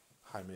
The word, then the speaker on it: Jaime: haven't corrected me I feel like a fool Jaime is I mean that is how it's spelt so you would think that so there